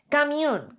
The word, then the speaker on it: camión: aquí hay un diptongo Entonces sería c mion es una palabra que tiene este golpe de voz esta sílaba tónica en la última de las sílabas es una palabra aguda